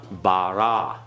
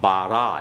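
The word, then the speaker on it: בָּרָא: Bara. Okay? Bara. Everyone? Bara. The aleph is silent.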